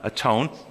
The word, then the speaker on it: atone: But it's pronounced with the old English, just like when you're all by yourself, you're not all one, you're alone, we go and atone.